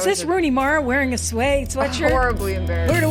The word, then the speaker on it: Suay: You can say it a million different ways, but technically it's Suay Sew Shop. Okay. But it depends on the moment.